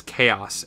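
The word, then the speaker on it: Kaos: and meet up with chaos yes it's indeed spelled Ka a o but I pronounce it as chaos as in disorder or or the water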